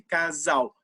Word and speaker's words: casal: casal s a l casal barulho essa irritação dese é começa a casal além do mais esse ao parece que está falando urso mas na verdade com ela que se escreve casal e essas coisas é